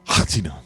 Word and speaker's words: H'atina: H apostrophe A. H apostrophe. The H is silent.